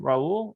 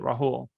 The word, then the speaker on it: Rahul: pronounced just like mine raul or is it rahul it's rahu the h is pronounced okay sounds good yeah